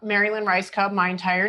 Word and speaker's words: Rajskub: Mary Lynn, MaryLynn, last name Raj, it sucks, SKUB, Rajskub. Rajskub, but no one says it correctly.